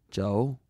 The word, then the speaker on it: Joe: "Joe?" "Spell it C-H-O-U if you want to be exotic. It's still pronounced Joe, and that's his name.